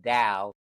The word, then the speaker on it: Tao: The only reason that it's spelled with the D sometimes is because in Chinese T is pronounced D, and so the Tao is pronounced Dao.